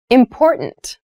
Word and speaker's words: important: to consider carefully yes the pronunciation of this word that first T is actually reduced it sounds more like a D in fast speech water is important to